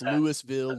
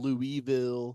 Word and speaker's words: Louisville: See, and and and 90% of the people that you and I have ever met have no idea how to pronounce that city's name. Yeah. Yeah. It's Lewisville, Louisville. That's right.